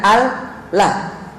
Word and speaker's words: Allah: Kan ada dua lam kan, al, lah. Kedua-duanya ditebalkan ketika dia tersendiri atau sebelumnya ada fathah atau dhammah, ya, maka ditebalkan lam itu dengan mengangkat punggung lidah ke atas, Allah.